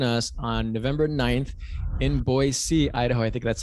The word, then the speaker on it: Boise: I encourage all of them to really join us on November 9th in Boise, Idaho. I think that's how you pronounce it. Very good, Boise.